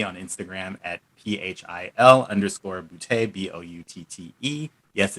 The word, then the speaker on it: Boutte: instagram at phil underscore booty b-o-u-t-t-e yes it's boute and that's how you pronounce it if it's not funny you're saying it wrong so get it right